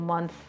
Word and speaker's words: months: Spending 3 long months. Try to pronounce months. Months. You th and then you s.